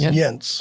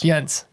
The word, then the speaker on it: Jens: Just, you mispronounced my last name. It is Jens. Jens.